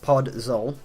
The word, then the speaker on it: podzol: blocks as i'll say we've got podzol it's pronounced pod zoll um it's spawned in